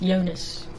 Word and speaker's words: Jonas: So it says Jonas here, but he is, I believe he's from Denmark or something. So it's actually pronounced Jonas.